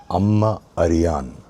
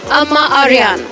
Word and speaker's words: Amma Ariyan: The vowel sequences short, short, short, short, long. There's only one long vowel sound here, and that is yan, yan. Everything else is short. A ma a ri yan is long. So, four continuous short sequence, and then it's long.